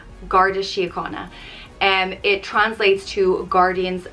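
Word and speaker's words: An Garda Síochána: this is the police force in ireland it's pronounced gardashiyakana and it translates to guardians of the peace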